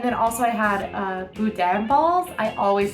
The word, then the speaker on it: boudin: oysters um and then also I had a boudin balls I always say it wrong I'm so sorry Louisiana I don't even think I said that right how do you say boudin for Dad oh I am saying it right